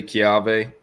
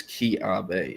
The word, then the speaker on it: Keawe: But yeah, and yes, I did say Keave. That is how I've been told it's pronounced. I know it's spelled Keawe, but have been told it is Keave.